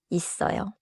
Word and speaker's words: 있어요: 있어요. 있어요. 좋습니다. Make it a little tighter. Not 있어요, but 있어요 with 쌍시옷 strong in the middle.